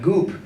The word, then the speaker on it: Goop: think associate with like Gwyneth Paltrow and like Goop.